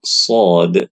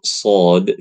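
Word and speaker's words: ص: Nah, sedangkan untuk huruf shad yang mana sudah kita pelajari ya, Ibu-ibu, dia bacanya itu ya kayak sho biasa. Kayak sho biasa. Hanya saja ya ketika membaca huruf shad, pangkal lidah kita naik sehingga hurufnya tebal.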